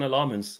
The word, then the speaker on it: Lammens: So, lemons um like it's quasants or um or province with emphasis on the last syllable.